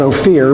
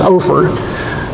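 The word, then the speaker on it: Ophir: always thought it was no fear but everybody tells me that it was pronounced over so you'd hop on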